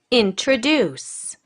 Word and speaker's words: introduce: now word stress okay introduce introduce right okay so the stressed syllable is introduce one the third one introduce okay of the third syllable